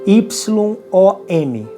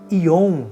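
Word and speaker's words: יום: Y-O-M, acho que essa é a pronúncia, Yom, que significa um período de 24 horas.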